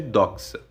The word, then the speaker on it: doxa: os gregos chamavam de doxa. Se escreve assim: D-O-X-A, acento no O, doxa, que significa opinião.